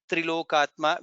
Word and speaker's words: Trilokatma: Trilokatma, we should be pronouncing Tri correctly. Ta and Ra, again Trilokeshaha.